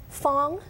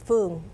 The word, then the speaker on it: Phuong: Fong in Chinese and English, but in Vietnamese it's Phuong.